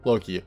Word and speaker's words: Loki: So this happened to me pretty recently when we were getting our new boxer, Loki, pronounce it like Loki from the Marvel series.